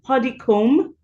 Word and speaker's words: Podicombe: My son is Podicombe, so the B is silent and so is the E.